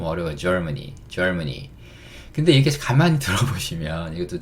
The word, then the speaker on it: Germany: 근데 이렇게 가만히 들어보시면 이것도 재밌는 얘기긴 한데 Germany 이러면 이게 약간 이렇게 들려요. 젊은이. 이봐 젊은이 이렇게 할 때 Germany. 예. 그 정 안 되시면 제가 이렇게 발음하라고 예전에 장난쳤던 기억도 나는데 그렇다고 너무 젊은이 하시면 안 되고 약간 Germany 하시면 됩니다.